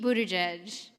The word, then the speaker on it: Buttigieg: Dude, I don't know why Just for future reference, Tulsi Gabbard and Pete Buttigieg, just in case the pronunciation trips anyone else up.